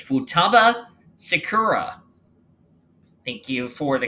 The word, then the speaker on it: Futaba Sakura: It's Futaba Sakura. Thank you for the correct pronunciation as I just dropped my phone.